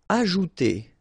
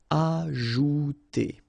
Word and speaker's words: ajouter: Ajouter. So remember, j is really pronounced like j. Ajouter.